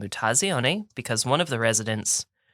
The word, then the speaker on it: Mutazione: a little Indie called mutasione and this is uh it's it's pronounced via the Italian word for mutation it's called nutazione and I have sent